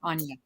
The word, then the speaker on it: Anja: So, Miss Anja, and it's Anja, correct? That's the correct And yeah, pronunciation? Anja.